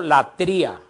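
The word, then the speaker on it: λατρεία: Esta adoración requerida por Dios y dada exclusivamente a Él como Dios es designada por los griegos como latría.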